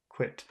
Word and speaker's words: quit: quit quit because uh the the i in quiet that happens further that happens in the front of your mouth and I happens down in the back of your throat I so you can